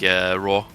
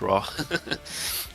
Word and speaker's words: RAA: guys right now, but it's actually pronounced like raw in Norwegian, so you can say raw in English as well.